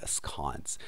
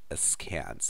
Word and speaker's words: askance: I suppose in British English you could pronounce this word askance. In American English, askance.